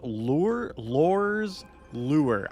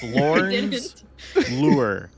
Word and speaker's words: Lorn's Lure: This is Lor's Lure. I will never say it correct on the first I don't think you said it right. Lorn's Lure.